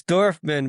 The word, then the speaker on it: Dorfman: How do you pronounce the last name? It's Dorfman, but it's only really used in the legal process against Live Nation.